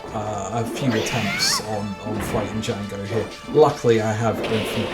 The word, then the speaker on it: Django: The Django. The D is silent.